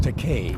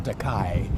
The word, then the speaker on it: Takei: My name is pronounced Takei. I'm very sorry. No, I don't object to the mispronunciation Takei. Okay. Because that's a Japanese word that means expensive.